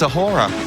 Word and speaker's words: A'whora: She invented the word Dora to rhyme with her name. It's Awhora. Awhora, hi, welcome.